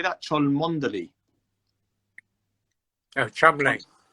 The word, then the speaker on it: Cholmondeley: Oh, Chumley. How do you say it? Chumley.